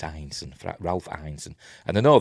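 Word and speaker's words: Ineson: It's Einson by the way. You hear a lot of Americans pronounce it innocent. It's not in. It's Einson.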